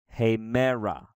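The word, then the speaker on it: ἡμέρα: tah here we have one two three vowels so and we break the syllable as quick as we can so it's hey man rah hey Mara hey Mara that's the word for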